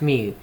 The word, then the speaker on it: mu: It's pronounced mu.